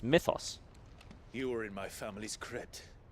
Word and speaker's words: Mythos: ] are you expect no less from you muthos muthos he said they say it like Mew that is that's is not how a y is pronounced I don't believe we've been introduced it's Mythos you were in my family's